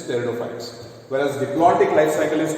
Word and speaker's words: pteridophytes: Here P is silent. So it is pteridophytes.